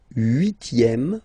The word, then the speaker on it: huitième: Le huitième, remember H doesn't exist.